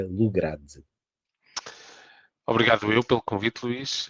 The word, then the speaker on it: Lugrade: Daí a palavra Lograde Lugrade. e não Lograde, como muitas vezes, por vezes, as pessoas pronunciam, o que não está correto, porque somos portugueses, somos uma família portuguesa, e da junção destas duas famílias advém o nome.